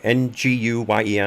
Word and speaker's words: Nguyen: pronouncing that right uh nguyen i'm pretty sure that's pronounced win that's a vietnamese and